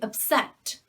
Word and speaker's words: upset: in that last video we say to upset so the stress on the second syllable as an adjective and a noun so as a verb sorry as an adjective and as a verb as a verb to say upset to upset someone means